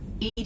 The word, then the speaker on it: EDI: are you named Ed Ed is the phonetic pronunciation of e di that is an acronym for enhanced defense intelligence what do you do